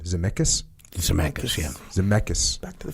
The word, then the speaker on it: Zemeckis: Zemeckis, yeah.